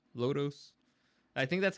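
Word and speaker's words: Lodoss: That's how it's spelled. Lodos.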